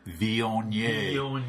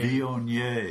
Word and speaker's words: Viognier: So listeners, what he's doing is taking his left index finger to his left nostril, preparing to pronounce in a very French fashion, Viognier. Viognier.